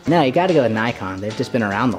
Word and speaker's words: Nikon: No, you gotta go with Nikon. They've just been around the longest. Actually, it's pronounced Nikon.